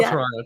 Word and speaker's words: Toronto: how do you spell Toronto t n r o so a lot of people say it like as if it's spelled t r o n n o but it's Toronto but we never say